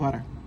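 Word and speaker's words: வடை: ايدلي طلبنا الور هي في المنيو في اي دي اي فالعقل بانه هي تتنطق بعده بس هي ما بتتنطقش كده تتنطق ورا وكمان انا بنطقها غلط في حرف كده شبه ر بس مش ر د بس مش د المهم يعني هو حرف من الحروف الصعبه هي بقى بتتنطق زيه اول حاجه الدوسه نزلت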